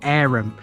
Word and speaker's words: Averham: obvious being its name yes it really is arum the pronunciation is likely a hangover from medieval times